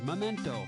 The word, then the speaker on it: memento: Which of the following words is pronounced correctly? Now listen carefully. Nuclear, memento, foliage, or larynx.